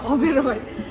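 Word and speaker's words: Oberoi: ओबेरॉय pronounce ओबेरॉय।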